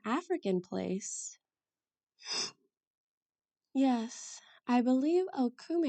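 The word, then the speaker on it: okoumé: there to where G is I wonder what okum is it's a it's an African place yes I believe okou it's spelled o k o u m e and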